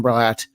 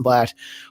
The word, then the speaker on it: Bladt: always i am bratt i also said my name wrong i'm blatt welcome to everyone watching